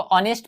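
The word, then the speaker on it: honest: Dish, इसको ऑनेस्ट पढ़ेगा, कुछ लोग हॉनेस्ट पढ़ते हैं, एच साइलेंट है, ठीक।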